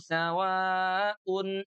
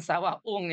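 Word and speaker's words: سواء: Innalladzina kafaru sawaun alaihim. Tuh hati-hati jangan sawah ung ya. Jangan sawaung nih teman kita di Makassar dan juga di Terengganu ya. Sawa UN ya.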